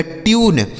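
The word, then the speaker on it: tune: टी यू एन ई, टी से हो गया दोस्तों आधा ट, इस यू का उच्चारण हो गया यू, एन ई से न, यह लिखा गया ट्यून, टी यू एन ई, ट्यून।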